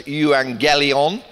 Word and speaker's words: euangelion: very simple Greek word it's euangelion not gellon or trying to make evangelism out of it more about that in